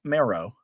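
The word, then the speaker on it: Merrow: of the generations beforehand my last name should be pronounced marrow m e r r o w but going along with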